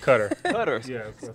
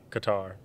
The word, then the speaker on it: Qatar: whether it's afghanistan iraq is it crater or qatar which one is it uh oh yeah uh cutter i always get it wrong supposed to be pronounced i guess but i say qatar out of all those